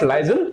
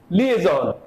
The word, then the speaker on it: liaison: word comes as liaison this is not lizel this is liaison liaison so the liaison officer